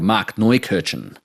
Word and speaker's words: Markneukirchen: German town right near the Czech border called Markneukirchen.